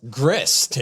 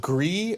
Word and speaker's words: Gris: in 2018 called g-r-i-s grist but apparently it's pronounced gree or gray i know what game